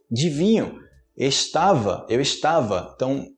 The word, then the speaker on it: vinho: são muitas vezes é muito com outra palavra vinho e falar Binho você ele Bino aí você falar em português